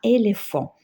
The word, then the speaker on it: éléphant: contre ici on a éléphant même s'il y a h il se prononce F parce qu'il est précédé par P là h elle est